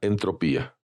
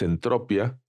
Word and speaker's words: entropía: conocida también como la entropía, aunque reconozco que en ocasiones la pronunciación es entropia. En lo personal, como lo aprendí como entropía, me cuesta trabajo mencionarlo como entropia.